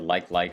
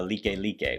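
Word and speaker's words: Likelike: head they have a street out here called like like highway it is not like like highway matter of fact a lot of us locals here we don't even call it uh like lique which is how it's actually pronounced like lique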